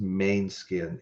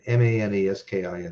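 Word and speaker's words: Måneskin: It's got to be pronounced Mainskin, Maneskin, Mainskin, Begging, and Red Hot Chili Peppers, Black Summer.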